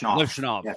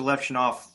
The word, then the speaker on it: Levshunov: guys like I'm sorry, I always say his name wrong. Levshunov, is that how you say his name? Levshunov.